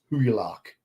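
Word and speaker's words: Hygelac: of the great king High luck I think I think you pronounce that it's like a silent G in there I can't use this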